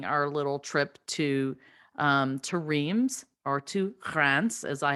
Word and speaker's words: Reims: still planning our little trip to um to reims or to france as i have learned it is pronounced um and i am so thankful for